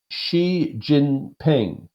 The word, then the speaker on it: Xi Jinping: shaking the hands of President how do you pronounce his name xie xie jun ping I believe Xi Jinping right so you've got Obama the President of